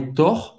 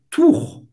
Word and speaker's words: tour: Então, não é tor, é tour. Tour e aberto, fel.